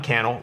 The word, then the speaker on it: Cannell: Let me know and follow me, Cannell, rhymes with YouTube channel, if you want more YouTube tips like this.